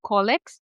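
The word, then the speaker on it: colic: I've actually personally seen many cases of kids having collects and I hope I'm pronouncing it the right way. Yeah, collic.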